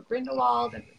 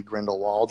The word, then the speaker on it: Grindelwald: Well, if you were saying that, I mean, that it's like Germanic, so then the W would be pronounced as a V, which is how I say it, because I'm a language nerd. But I think if for most Americans and English, it would be Grindelwald.